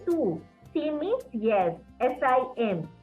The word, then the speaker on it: sim: S-I-M. The pronunciation is sim.